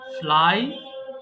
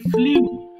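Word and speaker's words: flew: দেখো মাঝখানের এটা আমরা কিন্তু বেশিরভাগ ভুল করি, আমরা বলে ফেলি ফ্লিউ, বাট সঠিক উচ্চারণটা কিন্তু আমাদের জানা প্রয়োজন। তাহলে মাঝখানেটা কি হবে? এটা হবে ফ্লু, হবে ফ্লু, নট ফ্লিউ।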